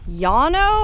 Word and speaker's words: Llano: This is 100 years old, and it's right outside the town of Llano, I think is how you pronounce it, L-L-A-N-O. It's a Spanish word meaning a big treeless flat, which we are right